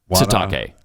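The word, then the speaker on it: Sitake: I want to say his name wrong. Say it right. Bad. What's his name? Coach Satake. Yeah, that's it. Yes. That's what it is. Kalani Satake.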